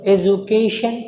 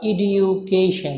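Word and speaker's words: education: Progress is নট অ্যাট all possible, again আবারও without এডুকেশন, শোনো এডুকেশন অথবা ইডিউকেশন দুইটো উচ্চারণ, without এডুকেশন women cannot B uplift, অর্থাৎ এডুকেশন ছাড়া, শিক্ষা ছাড়া মহিলাদের উন্নতি সম্ভব না।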